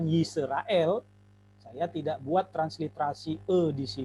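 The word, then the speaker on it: ישראל: dan ada lame Hai kalau kita tidak memperhatikan kaidah sewa maka kita akan bacanya nih isu rael Hai tapi bukan yisrael saya tidak buat transliterasi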